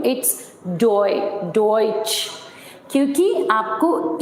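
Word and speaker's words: Deutsch: इस वर्ड को हम जर्मन में बोलते हैं डॉइच. डॉइच का मीनिंग होता है जर्मन लैंग्वेज. डॉइच का मीनिंग होता है जर्मन लैंग्वेज. बट अब अगर मैं आपको ये बोलूं कि आप मुझे डॉइच का स्पेलिंग बताइए जर्मन में, ओके?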